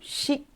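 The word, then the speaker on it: し: Então, em seguida, nós temos o xi. Em japonês não tem si, tá? Então essa letra aqui a gente escreve S h i e se pronuncia X.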